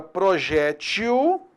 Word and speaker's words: projétil: Primeiro observar o seguinte, as palavras e nesse caso existe a palavra projétil e existe a palavra projetil. As duas pronúncias estão corretas.